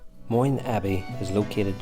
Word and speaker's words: Moyne: Today I'm in County Mayo in Ireland on the west coast of Ireland I'm in an old Abbey called Monye Abbey. I hope I am pronouncing that right.